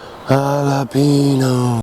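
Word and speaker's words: jalapeño: big fat row of jalapenos jalapeno that's how you pronounce it they put up a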